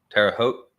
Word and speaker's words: Terre Haute: And I believe that a lot of lobbying went on, and that this is more to do with Hoot rhymes with coat. Hot, Hote, Terre Haute.